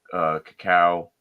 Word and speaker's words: cacao: You get more of that like cacao.